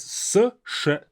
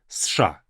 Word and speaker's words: США: Make sure that you pronounce this as США. США. Not all together, it's an abbreviation. We cannot say США. Cannot say that. США. Almost as if it's spelled with 5 letters.